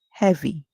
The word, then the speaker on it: heavy: A saying e however in this word we hearing a short sound where the e makes the e sound so we have h v the Y at the end makes the e sound so our word is heav e heavy heavy when something is heavy